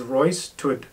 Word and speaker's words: Roositud: So the pronunciation is Roystood, but it's not spelled that way.